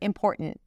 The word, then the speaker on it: important: She starts with an I sound, then M, im, and then pour. We definitely want to pay attention to the R here. Pour. And then there isn't really a T there. It's a glottal stop. And then she releases the T. It's not a held T when she pronounces it. It's just t.